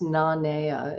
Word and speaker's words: Nanea: should have um uh let you know it's pronounced na naya it's the hawaiian word for peacefulness and serenity